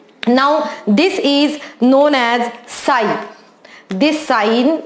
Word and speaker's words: psi: Now this is known as psi. This sign, it's just like a trishul, and this sign known as psi. Okay, P is silent in this. So this is the psi he has derived, and